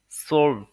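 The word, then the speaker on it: zwölf: এলফ এর পরবর্তীতে আছে 12 কে ডোয়েসরা বলে সলভ সলভ ওকে তাহলে আমি যদি প্রোনাউন্সিয়েশনটা আরো একবার আপনাদেরকে দেখাই তারপরে অবশ্যই আপনাদের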